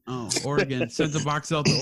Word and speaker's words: Oregon: dude really yeah wait how do you say it oregon yeah yeah that's the correct way oh oregon sent a box out